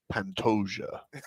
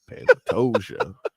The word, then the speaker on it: Pantoja: You have problems pronouncing enjoy, Mm, but you've never gotten a fight name wrong. Pantoja. Pantoja.